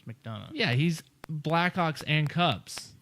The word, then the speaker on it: McDonough: I believe it's McDonough. How do you spell it? And McDonough makes sense. Yeah. McDonoughugh. Yeah. Yeah, and he's you gotta know how to say these Irish names. Yeah, it's McDonough.